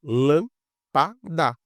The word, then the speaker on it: lâmpada: Olha só, lâmpada. Tem três sílabas, última sílaba, penúltima sílaba, antepenúltima sílaba. Lâmpada, essa que é a mais forte quando a gente fala.